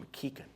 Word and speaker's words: McKichan: Some of you may have heard this joke before, but if you have, my last name is pronounced McKichan.